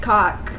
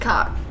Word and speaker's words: caulk: If you got a bat problem or a rat problem, traps and caulk is your solution. It's caulk. Macaulay Culk. It's the caulk gun. It is pronounced cock, Yeah. but spelled caulk.